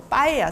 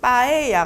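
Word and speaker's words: paella: 그래서 뭐 빠에야, 스페인의 주요 음식 빠에야 같은 경우도 피로 우리가 쓰잖아요. 보통 피로 써요. 빼라고 하는데 이렇게 피로 쓰는데요. 피로 쓰지만 얘를 뿌라고 우리가 발음을 하잖아요. 그러니까 기본적으로 우리가 영어에서 프, 트 이렇게 발음했던 것들이 스페인어에서는 된소리로 발음되신다고 보면 돼요.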